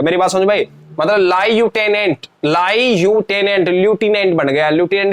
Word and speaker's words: लेफ्टिनेंट: इसको पढ़ के देखो क्या है, बहुत सारे बच्चे इसको लेफ्टिनेंट पढ़ रहे होंगे, प्यारे बच्चों लेफ्टिनेंट नहीं है, लेफ्टिनेंट नहीं है, ये जो स्पेलिंग है इसको हम बोलेंगे तो ल्यूटिनेंट बोलेंगे। क्या बोलेंगे, ल्यूटिनेंट बोलेंगे। देखो इंग्लिश में ल्यूटिनेंट ही बोलते हैं, हिंदी में लेफ्टिनेंट बोलते हैं, मेरी बात समझ में।